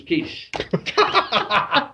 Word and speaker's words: quiche: her i wanted a quickie but the correct pronunciation was quiche so you see there was an old dance